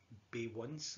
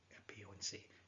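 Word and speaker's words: Beyoncé: And the singer there was Bay Once, I believe her name is. So Bay Once, is that how you say it? Yeah, I think it's Bay Once. Beyonce.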